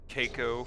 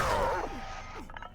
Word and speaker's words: Caco: Dude, I said fucking Keiko for the longest time, and then I got made Keiko fun of Demon. by all my friends. Apparently it's Yeah. Caco. Yeah. It's Latin.